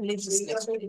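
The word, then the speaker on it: legislature: সো ফার্স্টে যে অংশটা আছে এটার উচ্চারণ করার আমার সাথে লেজিসলেচার, অনেকে বলে লেজিসলেট মানে জিটাকে কিভাবে যেন উচ্চারণ করো ওরকম না, উচ্চারণ কিন্তু লেজিসলেচার জেনে গেছি।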